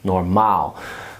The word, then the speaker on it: normaal: Normaal sounds a lot like normal, but you put the emphasis on the last syllable. Normaal.